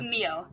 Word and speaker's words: Mio: Sorry, how do you pronounce that? Mia or Mio? Mio. Mio. Yeah.